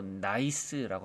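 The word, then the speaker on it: gneiss: 여기 편마암을 영어로 나이스라고 합니다. G는 묵음이에요.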